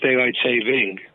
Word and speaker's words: daylight saving: No one will shoot you if you use the wrong one, but the correct way to say it is daylight saving, without the S.